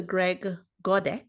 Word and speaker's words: Godek: So Greg Godek, is that how you say it?